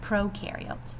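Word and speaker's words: prokaryotes: different bacteria are considered Pro carots remember Pro rhymes with no these organisms have no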